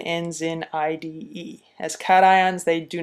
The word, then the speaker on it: cations: charged ions are called cations so let me differentiate this for you we'll draw a line across here these are cations they're not pronounced cachin they're cat ions these guys down here